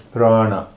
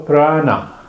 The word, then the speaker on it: prana: And the word that you spoke is prana. Come on, Craig. So prana, P-R-A-N-A, is a Sanskrit word. Mm-hmm. And it has 2 syllables.